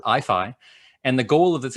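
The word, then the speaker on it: IAIFI: this ai institute uh it has an unpronounceable acronym but we pronounce it ifi and the goal of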